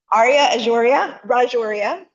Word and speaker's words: Arya Rajoria: Arya Rajoria, did I say it right? Yes.